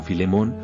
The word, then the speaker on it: Philémon: En français canadien, le nom apparaît sous la forme Philémon, avec l'accent tonique sur la dernière syllabe.